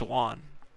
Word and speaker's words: Juan: Like I should know it's Juan.